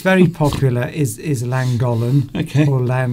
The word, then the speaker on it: Llangollen: Duncan, it's Llangollen, or however you pronounce it. I say Llangollen. That's how a British person would pronounce it, but it's a Welsh name.